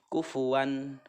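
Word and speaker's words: كُفُوًا: Alif yang berharakat fathah Apabila ada tanwin bertemu dengan Hamzah ini adalah Idhar cara membacanya itu jelas dan tidak mendengung kufuwan kufuwan one Jelas terdengarnya oke seperti itu mengenai izhar selanjutnya aha the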